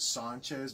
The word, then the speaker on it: Sanchez: You have to pronounce it Sanchez because it is Latin American.